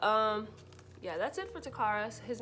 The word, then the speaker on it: Takara: and yeah but um yeah that's it for takaras his name is spelled t-a-k-a-r-a um i call him by his